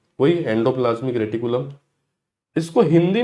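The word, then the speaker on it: reticulum: Endoplasmic रेटिकुलम, रेक्टिकुलम भी pronunciate करते हैं, लेकिन रेटिकुलम याद रखो।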